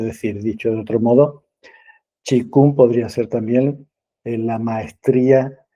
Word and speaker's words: Qigong: Para los que no conozcáis el término Qigong, se compone de dos ideogramas, el Qi y Kung. Se escribe Qigong, la grafía es distinta de la pronunciación.